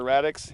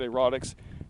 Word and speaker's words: erratics: Yes, Scott is saying they're erratics, and he mispronounced it and said erotics, and we all giggled, but I swear, it looks like a monster has spilled his marbles.